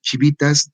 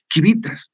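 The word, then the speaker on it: civitas: Ya no Civile, porque debería ser Civile, en vez de ciudad, de decir chivitas, debería ser quivitas, ¿no? Porque el latín antiguo era así, era quivitas.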